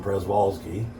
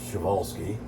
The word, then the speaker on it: Przewalski: you know cloning uh i i called him prez walske they call them p horses it's actually pronounced schevolsky and i thought gosh we haven't you know